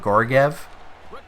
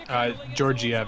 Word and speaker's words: Georgiev: You got Lundqvist and I'm going to pronounce it wrong, but Gorgiev. Georgiev, I think that's just a J as opposed to a G, kind of GIF, peanut butter and GIF video.